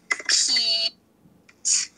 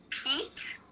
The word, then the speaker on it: pizza: And in English, we actually say pizza. Right, like, So that's how it's actually said. It's said pizza. with the T sound, like pizza.